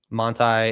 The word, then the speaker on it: Monti: Monti is a German pronunciation of a Polish last name, but my blood is German, following from my father's line of descent or whatever.